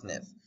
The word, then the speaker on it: SNF: is right upper quadrant SNF is Skilled Nursing Facility pronounced sniff SX is symptoms TX